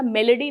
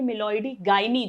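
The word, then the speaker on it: Meloidogyne: हमें जो पढ़ना है, पहला क्वेश्चन 1 मार्क में, निमेटोड है ये, मिलॉइडी गाइनी इनकॉग्निशिया, स्पेलिंग अच्छे से याद करना, मेलेडी नहीं है, मिलॉइडी गाइनी जो मैं हूँ, और इनकॉग्निशिया।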